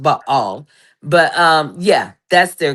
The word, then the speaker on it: Baal: Because at the end of the day b a a l ball ba all is is pronounced ba all.